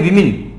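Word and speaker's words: women: ई कर दिया, लेकिन इसको बोलते क्या है, इसको बोलते हैं विमेन। ध्यान रखना, बोलने का भी बहुत अच्छा फर्क पड़ता है, आपका प्रोनाउंसिएशन चेक हो जाता है, वुमन होता है ये वुमन और ये विमेन, ये मैन ये भी मैन।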